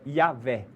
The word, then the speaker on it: Yahvé: E na língua hebraica, eu sou aquele que sou, a pronúncia é Yahvé.